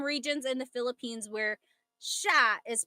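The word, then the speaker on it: siya: But the s i y combination that makes a sh sound. So sha.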